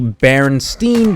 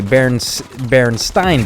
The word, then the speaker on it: Berenstain: I would say Berenstain Bears. I'd pronounce it that way because my last name actually has an E-I and it's pronounced with an I sound.